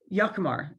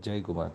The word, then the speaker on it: Jai Kumar: Yakumar, is that correct pronunciation? Jai Kumar.